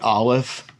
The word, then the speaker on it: Aleph: is an O vowel, then you'll pronounce the Aleph as O. If it's an A vowel, you'll pronounce the Aleph as A. If it's an I vowel, you'll pronounce the Aleph as I. So it's right off the bat, it shows you how different Hebrew is from most modern Romance languages. It's the silent letter.